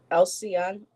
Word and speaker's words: Alcyone: Alcyon, I believe that's how you pronounce it, Alcyone, or I think it's Alcyone, from which we get the halcyon bird.